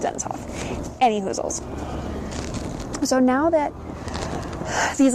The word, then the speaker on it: Dennis Hof: but yes his name his name is pronounced denisof anyhoozles so now that